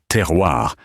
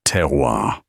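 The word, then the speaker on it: terroir: Furthermore, your pronunciation of the word teroir is appalling. You pronounce it as if it were the name of a hunting dog. It is teroir. The R is guttural, sir. It comes from the throat, not the nose.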